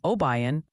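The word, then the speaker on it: Obion: apparently there's no candy and obayan county for that spot in Tennessee keep fighting the good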